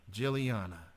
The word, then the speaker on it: Guliana: to be gin across oh how do you pronounce the last name Juliana Juliana got that okay wha-wha-wha yeah so so what